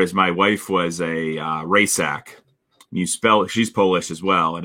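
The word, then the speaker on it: Rajcsak: She's Polish as well, and it was R-A-J silent C S-A-K Rajsak. Right, so the silent letters is what screw a lot of people up, especially when they're consonants. Yep, right in the middle. Yeah, it's like, oh, do I pronounce? Is that a hard C, a soft C? No, it's an OC. Yeah, you just pretend you don't see the C.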